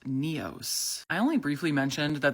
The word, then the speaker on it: Nyos: Over the last 5 years, I've always called this Lake Nyos, but thanks to this comment from a local, it's actually pronounced Neos.